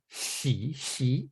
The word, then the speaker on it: 徙: Now, here's the deeper level meaning of xi. That's the pronunciation.